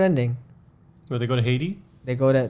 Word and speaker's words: Haiti: where they go to Haiti they go to they go to haidi they're financing yeah that's the proper pronunciation so they go yeah